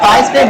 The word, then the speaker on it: Theismann: Joe Theismann, his name rhymes with Heisman.